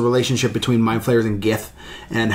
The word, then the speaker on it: GIF: other I love the gift I've always loved the gift I for my answer for this question the message if it is no no it is not pronounced jiff yes it is gif others who says the